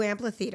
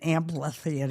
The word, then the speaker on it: amphitheater: They're going to have the new amphitheater. Amphitheater. I like how you always call it an ample theater. I It's an amp what? It's an amphithe how do you say it? Amphitheater.